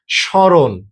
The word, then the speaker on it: স্মরণ: ম এর উচ্চারণ অবিকল বিলুপ্ত হয়। মানে এটা একদম নিঃশেষ হয়ে যায়। এখানে কিচ্ছু থাকে না। কিন্তু আমাদেরকে চন্দ্রবিন্দু দিলে যেরকম উচ্চারণ হয় নাক দিয়ে উচ্চারণ হয় সেরকম উচ্চারণ হয়ে যায়। যেমন স্মরণ, স্মরণ। ঠিক আছে?